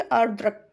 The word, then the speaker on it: आर्द्रक: आर्द्रक मतलब कि यहाँ पे दा में नीचे भी रा है और ऊपर भी है, तो इस तरीके से क्या इसको प्रोनाउंस करेंगे, आर्द्रक।